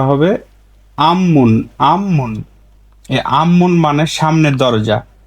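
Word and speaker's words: 앞문: বলবেন তখন সিমমান আরেকটি উদাহরণ দেখি এর স্বাভাবিক উচ্চারণ হচ্ছে আপমুন আপ মুন কিন্তু বাদমে ফিউপ পাইছি ফিউপের পরে রুলসের মিউম পাইছি নিউন মিউম তাহলে বিউপ ফিউপের উচ্চারণটা হবে ম আপমুন না হয়ে এর উচ্চারণটা হবে আমমুন আমমুন আম্মুন মানে সামনের দরজা এইযে মুন মানে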